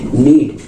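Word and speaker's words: knead: silent है ठीक है नीड नीड में भी आपका देखिए एन से पहले क्या है आपका के है हम लोग के को नहीं पढ़ रहे हैं ठीक है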